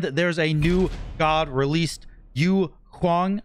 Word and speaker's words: Yu Huang: a new god released you huang i think is how you say his name hold on i'll wait you hwang yeah that's how you